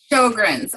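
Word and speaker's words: Sjögren's: You have IBS, and okay, I'm not going to be able to pronounce the last one. Sjogren's.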